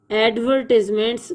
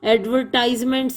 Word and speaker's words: advertisements: The glitter of advertisements, इसको ऐसे ही पढ़ना है, एडवर्टिजमेंट्स, कुछ लोग इसको गलत पढ़ते हैं, एडवर्टाइजमेंट्स कहते हैं जो कि गलत है।